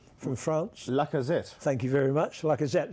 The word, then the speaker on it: Lacazette: See, I think it looks like they've got the boy, you must pronounce the name, from France. Lacazette.